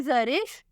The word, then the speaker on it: Zarish: अगला नाम है जरिश, स्पेलिंग है ZARISH।